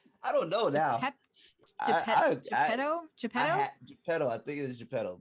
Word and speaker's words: Geppetto: Geppetto. Oh my God. Geppetto. Pep. Whoa. How do you say his name? I don't know now. Geppetto? Geppetto.